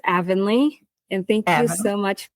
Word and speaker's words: Avonley: And I Avenly, how are you today and am I pronouncing your name correctly? Yes. So it's Avenly and thank you so much for having me on your show show.